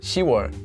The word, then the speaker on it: 시월: that's why June is yor and October is shiar they're easier to say and they sound nicer